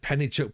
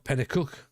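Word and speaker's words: Penicuik: I heard Pennychuck pronounced wrong a couple of pods back. At least you were referring to Pennychuck. Or Pennycook.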